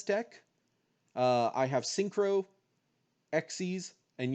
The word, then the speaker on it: Xyz: uh i have syncro xe's and yeah i know it's pronounced sexy is not xyz even though it's just xyz and link monsters the fourth